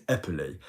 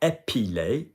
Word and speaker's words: épeler: But the verb to actually spell is épeler. Notice it's not épiler, because that's to epilate, to remove hair, all right?